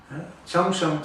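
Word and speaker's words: Chengshan: Changshan se escribe C-H-E-N-G, Shan de montaña.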